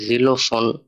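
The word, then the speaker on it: Xylophon: পরবর্তী ওয়ার্ডটা এক্স নিয়ে, এখানে লেখা জিলোফোন। জিলোফোন একটা বাদ্যযন্ত্রের নাম, ইনস্ট্রুমেন্ট, ছবি দেখতে পারতেছেন। তো এটার উচ্চারণ করেন চলি এক্স উপসিলন এল ও এ হা ও এন, জিলোফোন।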